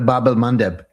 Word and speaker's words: Bab el-Mandeb: Um, Bob El Mand Mandeb, I'm sure I'm butchering the pronunciation. Oh, that's right. The Babel Mandep.